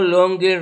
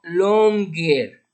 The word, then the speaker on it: longer: Ok, y aquí también la pronunciación como la G La G está seguida por otra, es después de otra consonante que es la N. El sonido de la G aquí no es Y, sino G.